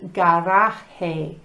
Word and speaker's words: garaje: You know, la letra J is pronounced H en español. So, garage is garaje and garden is jardín.